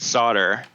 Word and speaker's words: solder: actually I'm making a shirt that says it's pronounced solder but it's ridiculous because it's a shirt and